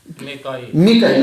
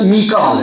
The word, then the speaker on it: میکال: جبریل، دوسرا اسرائیل، تیسرا میکائیل۔ ہم میکائیل کہتے ہیں، لفظ میکال ہے، قرآن میں میکال لفظ استعمال ہے، وہ میکائیل ہے، ہمارا